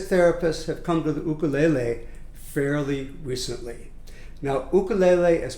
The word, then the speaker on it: ukulele: if any in the ukulele and notice i pronounce it ukulele which would be the hawaiian way to pronounce it so the purpose of